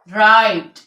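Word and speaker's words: right: common use में है के एच से पहले और आई के बाद जो अक्षर जी होता है वो साइलेंट होता है लाइट माइट साइट राइट इन सब में जी साइलेंट है ठीक है इसके बाद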